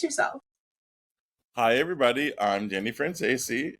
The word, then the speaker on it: Franzese: I'm gonna give Haley credit for that, because I was like, Haley, how do you pronounce his last name? And they were like, Franzese.